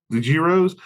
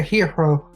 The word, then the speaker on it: gyro: "Can we get the gyros? The heroes?" Yes, that. Sure. Well, there you go. It's pronounced gyros, right? I need a hero. I was calling gyro, and she'd be like, "No, it's hero."